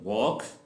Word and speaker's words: वॉक: words L is silent जब एल के बाद के ही अगर लेटर आ जाता है तो एल साउंड साइलेंट हो जाता है और के की आवाज जो है वो देता है फॉर एग्जांपल वॉक ठोक योग स्टॉक लेट्स